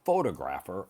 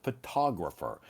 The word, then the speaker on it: photographer: I'm a amateur photographer, not photographer, an amateur photographer.